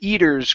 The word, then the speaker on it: eaters: had said eaton okay this is an er at the end so the eaters grow the eaters or the